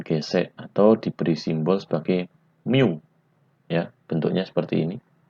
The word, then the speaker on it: mu: Nah, sifat permukaan benda ini disebut koefisien gesek atau diberi simbol sebagai mu. Ya, bentuknya seperti ini.